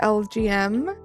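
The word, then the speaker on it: Elgyem: Uh, the way to say Elgen is to pronounce it LGM. LGM. Uh, as the name is basically little green man aka aliens.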